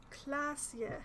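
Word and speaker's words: Klaasje: better in we go classia is how that young lady's name is supposed to be pronounced uh i'm going to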